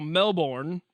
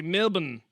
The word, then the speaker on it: Melbourne: We're going to what you and I would call Melbourne, but apparently you're supposed to say Melbourne. And I don't know where the R went. I don't know where the O went. The U got converted into an I somehow.